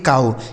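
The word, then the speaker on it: cow: इस ओ डब्ल्यू का उच्चारण आऊ। इसे पढ़ेंगे काऊ।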